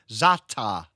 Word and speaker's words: za'atar: Talking about pallet, I I I had my very first za'atar. Have I pronounced that right? Za'atar.